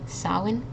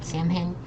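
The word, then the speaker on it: Samhain: Isaac uh just as a reminder this is pronounced Sinn not samen I know it's uh spelling is really strange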